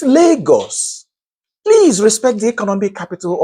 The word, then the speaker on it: Lagos: So, Canadians keep saying Lagos or Lagos. And Nigerians grumble. Excuse me? It's Lagos.